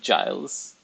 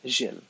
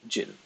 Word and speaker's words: Gilles: uh, oh, it's not Giles. It's Gilles. But in Maltese, it would be Jill. Because we don't have any soft letters. We emphasize on consonants.